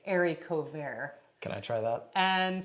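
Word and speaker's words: haricots verts: and it's another it's actually don't you mean Harry cots verts Harry cots I never said Harry but yeah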